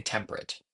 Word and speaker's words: temperate: We would say temperate. It's temperate outside, so that's 9. So we need to say temperate. Thou art more lovely and more temperate, because if we don't have the three syllables, it ruins it.